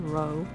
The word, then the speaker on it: row: saying row, like getting a row, like getting an argument. Mm-hmm. Then purposefully, you can also pronounce it row, like to row a boat.